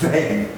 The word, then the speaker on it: Zen: So Chan Buddhism, they can't say Chan in Japan, so it's pronounced Zen, which basically means meditation.